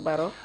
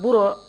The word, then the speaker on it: Baro: Yeah, but the way they pronounced the Baro was not correct. So he told them that he doesn't know any Lieutenant Buro in the army.